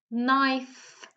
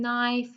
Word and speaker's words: knife: So I'll just give you a few more seconds to tell me which letter is silent in each of the words, okay?